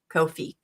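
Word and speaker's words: Ko-fi: their what they say how you pronounce it is is it sounds like no fee Kofi ah okay so that's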